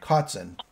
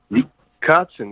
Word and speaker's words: Kotzen: Am I pronouncing your name right? Kotzen. Kotzen, yeah, there you go. Kotzen, K-O-T-Z-E-N.